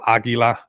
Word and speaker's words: Aquila: Which is cool how it's spelled with a Q here, but um it is like almost how we say it in Spanish, Aguila. You know, we say it with a G, but I mean, there you guys go.